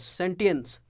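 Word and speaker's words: sentience: सेंटेंस, अच्छा spelling बड़ा गौर से देखिएगा इसको, वो सेंटेंस जो हम लोग लिखते हैं वो नहीं है, इसको सेंटेंस पढ़ते हैं, सेंटेंस, सेंटेंस, सेंटियंस।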